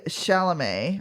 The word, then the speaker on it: Chalamet: So, Austin starred with Timothy Chalamet. I think that's how you say his name. I think the T on the end is silent.